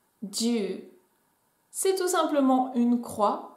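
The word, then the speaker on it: じゅう: Et enfin, le chiffre 10 en japonais se prononce ju, ju.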